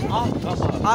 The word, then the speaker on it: Ahtamar: Ahtamar. Ahtamar. Ahtamar değil. Ahtamar. Evet, Ahtamar diye yazılır. Ahtamar diye okunur.